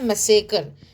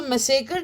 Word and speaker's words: massacre: जलियांवाला बाग के लिए जो वर्ड आता है उसको हम बोलते हैं मैसेकर। मैं स्पेलिंग यहां लिख रही हूं, MASSACRE। क्या बोलते हैं हम उसे, मैसेकर बोलते हैं। सो मैसेकर क्या होता है, जब